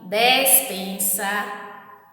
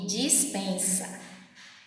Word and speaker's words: despensa: Olha só, tem aqui, despensa e dispensa. Então, eu não falo dispensa e dispensa. Eu falo despensa e dispensa.